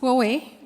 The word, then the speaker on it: Huawei: tell us your name and how do we pronounce Huawei my name is yes Huawei is Huawei okay all right um what